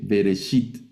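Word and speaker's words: בראשית: Aquí el ejemplo en la palabra bereshit, el sheva que está debajo de la bet es vocálico y suena como una E breve, bereshit.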